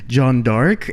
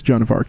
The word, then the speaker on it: Joan of Arc: history teacher pronounce it John dark and I was like French pronunciation Jean barek well which is yes but it's it's Joan of Arc in English yeah so an ex-movie